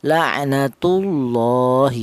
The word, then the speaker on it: la'natullahi: Tafhim itu artinya tebal, yaitu cara baca lafal Allah ini atau lam jalal ini ditebalkan. La'natullahi seperti itu. Tidak boleh lafal Allah ini dibaca tarkik atau tipis, tidak boleh. Seperti contoh la'natullahi, tidak boleh.